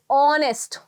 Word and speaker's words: honest: It's going to be honest. अगर आप इसका clear pronunciation देखोगे तो this is the clear pronunciation that you're gonna find.